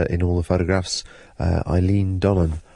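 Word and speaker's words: Eilean Donan: all the photographs uh Eileen Donan I think it's pronounced uh and then we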